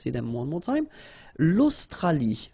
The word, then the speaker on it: l'Australie: L'Australie, l'Océanie, l'Antarctique, l'Eurasie, l'océan Atlantique, l'océan Pacifique. Okay, so let's see them one more time. L'Australie, final E not pronounced.